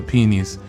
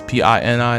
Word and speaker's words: Pini: I'm thinking of ElfQuest, the Peonies. That sounds really wrong when I say it like that, but it's Pini.